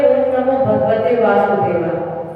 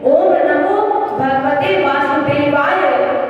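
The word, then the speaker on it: ॐ नमो भगवते वासुदेवाय: शुद्ध उच्चारण इस मंत्र का है ओम नमो भगवते वासुदेवाय। और कुछ लोग बोलते हैं ओम नमो भगवते वासुदेवाय। नहीं, ये नहीं। ओम नमो भगवते वासुदेवाय।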